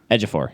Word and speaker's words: Ejiofor: Ejiofor, yeah.